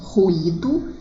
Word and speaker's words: ruído: Em ruído, ela constitui o fonema I, e em cheiro, o fonema Y, com o som de I. No primeiro caso, ela é pronunciada de maneira mais forte, e no segundo de maneira mais fraca, ó.